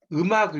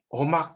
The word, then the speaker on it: 음악: 그러니까 이 경상도 방언에서 재밌는 게 뭐냐면 음악을 여기 경상도 출신 음악 이런 걸 발음을 하면 어막 이렇게 어막 이해가세요? 음악을 이 의 발음하고 어 발음이 이렇게 구분이 경상도 출신 좀 발음이 잘 안 돼요.